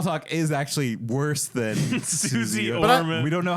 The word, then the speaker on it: Suze: There's no Y. It's Suze.